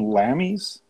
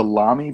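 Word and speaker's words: Lamy: I always call them lammies. I think it's a lami pen. I think that's how it's actually pronounced.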